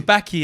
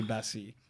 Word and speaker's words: Baci: I thought it was Baki at one point, Yeah. but then I heard it pronounced. Said it's definitely Bassi.